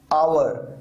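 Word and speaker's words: hour: अब यहां पर देखिए आवर, यहां पर एच साइलेंट है, पाम यानी हथेली, यहां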